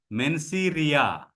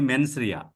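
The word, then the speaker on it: mens rea: due respect to all some of my friends call this as menia it is not not men sir M NS R E A menia so don't spell it as menia it is only menri that is a Latin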